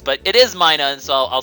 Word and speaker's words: Minun: that I mispronounced Minun, because it's Minun, because it's minus, which I called Minun, and everyone's like, no, you're a horrible person.